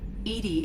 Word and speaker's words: EDI: are you named edie edie is the phonetic pronunciation of edi that is an acronym for enhanced defense intelligence where are you my